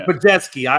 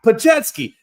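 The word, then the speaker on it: Podziemski: Thank you, Pajetsky. I can never say those names correctly. So it's a tough one. Yeah, Pajetsky.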